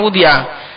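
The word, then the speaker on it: وُضِعَ: Allati wad allati wudia bacanya wudiah.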